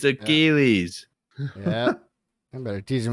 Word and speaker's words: Achilles: Is this Achille? Achille is back. Achille Hannon? No, you dummy. It's Achilles.